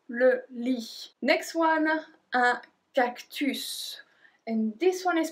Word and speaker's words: cactus: Next one, un cactus. And this one is pronounced a bit differently because you're not supposed to say to pronounce the S at the end, but in this case we do. Un cactus.